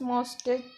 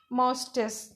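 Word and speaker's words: moustache: Largest मोस्टेस मोस्टेस, ठीक है। ये होती है मुच्छे, मुस्टैस, इस तरह का कुछ लिखा मिलेगा आपको अगर डिक्शनरी में देखो तो, कि प्रोनाउंसिएशन ये होता है मुस्टैस।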